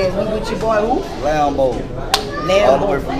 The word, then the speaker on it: Lambeaux: Lambo, spell it like a Cajun, LAMBEAUXLWE, it's Lambo's World, you heard me, Entertainment, Lake Charles, Louisiana, y'all fuck with that.